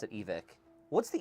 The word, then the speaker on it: Evike: I've always called it Evike. So for the longest but- time, I've said but, it's you know, I Evike. think that in their videos and in their media, like, they pronounce it. It's Evic.